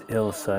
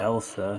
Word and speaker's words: Ilsa: It is Ilsa, not Elsa.